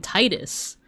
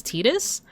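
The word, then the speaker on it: Tidus: And I remember lots of people would call him Titus cuz it sounds like the name Titus, right? But it wasn't until Kingdom Hearts where um they confirmed that the pronunciation was Tetus.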